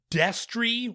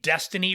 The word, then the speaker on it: Destry: It is spelled Destry. I've had to edit out myself saying Destiny Rides Again several times.